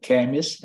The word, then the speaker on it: chemist: Dạ, mấy em để ý nha, như chữ CH nó chữ đọc là K á, giống như là chemist đó, mấy chữ thông thường mình để ý đó thì mình áp dụng như thế này, như là hóa là chemist, thì nó đọc là chữ K chứ không phải đọc chữ chợ, cho nên tiếng Anh